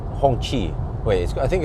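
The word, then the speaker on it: Hongqi: not as quiet as hongshi Hong Chi wait I think it's called hongchi hongchi but I believe I was misinformed by the Norwegian importer because they claim that it's pronounced Hong Shi like she but I think when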